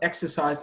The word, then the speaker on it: exercise: Exodus, exercise, examine, execute. For exodus, the stress is on the first syllable. For exercise, the stress is on the first syllable.